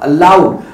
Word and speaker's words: aloud: एंड the word is अलाउड। सो अगर मुझे कहना है अलाउड तो मैं ए नहीं बोलूंगा, इसकी प्रोनाउंसिएशन देखिए क्या है, जैसे अगो, जैसे अलोंग, जैसे अलाइव, ऐसे क्या होगा अलाउड।